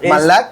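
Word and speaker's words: מלאך: Si no, sepa de que la palabra mensajero en el original hebreo es Malak. Tal vez no lo pronunciamos igualito, pero Claro. se dice Malak.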